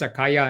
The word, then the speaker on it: Akaija: Then they say we write it down as Akaija, and we say Akaija in Dutch, but the English might pronounce it differently.